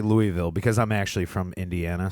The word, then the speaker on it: Louisville: And they're like, "You're not saying it right. It's Louisville."